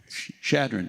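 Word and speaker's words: Chadron: Shadron.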